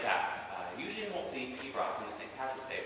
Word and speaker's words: Piobaireachd: So that long word in the title, Piobaireachd, is Pibroch. 2 syllables, not Piobaireachd. Unfortunately, that's the nature of the Gaelic language. It is lots of silent letters.